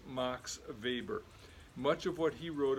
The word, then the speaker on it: Weber: like Karl Marx now if Max Weber had been born in Great Britain we would probably call him Max Weber but the German pronunciation of his name is Max Weber much of what he